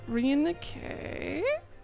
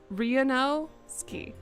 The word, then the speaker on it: Ryunosuke: Ryunosuke?